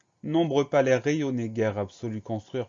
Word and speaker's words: nombreux: cris e u là on a une lettre muette à la fin de nombreux c'est le hic ce